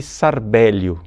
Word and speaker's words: Charbel: Mas em português, através da adaptação latina, né, se pode chamá-lo também de Sarbélio, São Sarbélio Macluf. Mas é mais conhecido mesmo com o nome de Charbel, com a pronúncia francesa, que ficou um pouco vulgarizada no mundo inteiro.